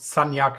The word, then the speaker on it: Sagnac: I think it's pronounced Sanyak, but whatever.